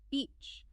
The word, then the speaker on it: beach: Beach. This word needs a clear, long e vowel sound, like the vowel in sheep or sea or reach.